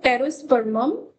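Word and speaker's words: Pterospermum: इसका botanical name टेस्पर्मम एसिलिफोरियम इस यहां पर ट्री साइलेंट है। आप देख रहे होंगे तो टेरोस्पर्मम एसिलिफोरियम इसका बॉटनिकल नेम है।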